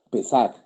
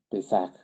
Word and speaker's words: Pesach: En hebreo, Pesach. Pesach. Se escribe P-E-S-A-C-H. Pesach. O P, tilde en la E, S-A-J también. De las dos maneras.